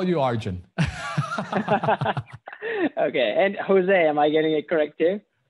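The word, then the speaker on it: José: barn and and say but it's actually in spanish we just say jose so um but i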